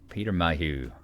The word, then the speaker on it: Mayhew: And, oh, Peter Mayhew. That's how you pronounce his last name.